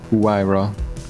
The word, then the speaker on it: Huayra: or the werewolf yeah pronounce like the first couple of uh characters because i think that's the way it's supposed to do why isn't germany with her that way why raw it's like always